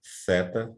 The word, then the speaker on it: theta: dentes, epsilon, zeta, eta, theta, também interdental, iota, kappa, lambda, mu, como um i francês, né?